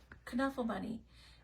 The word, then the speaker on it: Knuffle Bunny: author mobile homes says it's supposed to be pronounced the Dutch way with a kunafa bunny and in Dutch it